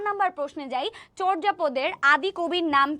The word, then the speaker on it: চর্যাপদ: আচ্ছা, এটার যে উচ্চারণ চর্যাপদ, অনেকে এটা উচ্চারণ করে হচ্ছে চর্যাপদ, কিন্তু এটার উচ্চারণটা হচ্ছে চর্যাপদ, ঠিক আছে? এটার উচ্চারণটা হচ্ছে চর্যাপদ। ওকে, চর্যাপদ, চয় ওকার উচ্চারণ করার সময় এটা চর্যাপদ হবে।